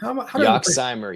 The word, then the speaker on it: Yoxsimer: Am I going to pronounce this right? Yoxsimer? Yoxsimer, yes. First try, let's go.